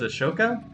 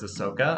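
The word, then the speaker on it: Asoka: two our winner was aoka who I'm trying to pronounce more accurately as not as Ahsoka I will probably slip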